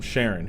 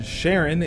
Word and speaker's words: Charon: Now about the pronunciation, Charon isn't likely the Greek pronunciation, but I'm going off how astronomers pronounce Charon when talking about the moon of Pluto with the same name.